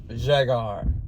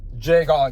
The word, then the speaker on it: Jhaegar: j h a e g a r jar jagar jagar trus drais the store that I was going